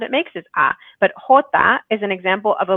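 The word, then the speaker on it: jota: next word the j this letter doesn't sound anything like the letter but it's hota hota and i hear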